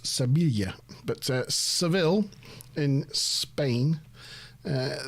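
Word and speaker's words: Sevilla: to uh so you know sevil is actually pronounced seila but sevil in Spain uh this is really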